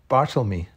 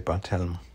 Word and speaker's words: Barthelme: That's me carrying Hiding Man, a biography of Donald but actually it's pronounced Bartlemy. I always used to say Barthelme, by Tracy Doherty.